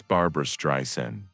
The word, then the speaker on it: Streisand: Ladies and gentlemen, making her television debut, Miss Barbara Stryen. He pronounced her name correctly.